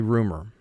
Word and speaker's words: rumor: double underline it and for spelling we pronounce the word rue more but in conversation we say rumor detain detain the police